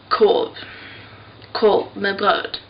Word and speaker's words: korv med bröd: There's a R in korv and in bröd, but we pronounce it here like korv med bröd.